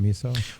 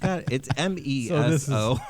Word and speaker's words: meso: So the meso or the miso, sometimes you pronounce it miso. Well, I don't. Miso is like the soup. Like miso soup. So I'm like, it's MESO. So I would call it meso.